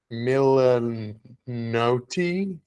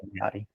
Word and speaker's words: Milioti: Kristen can't pronounce. I have it right up here. Kristen Milanotti Milioti. Might be that. Yeah. Yes. Yeah, I that's had. Kristen Milioti.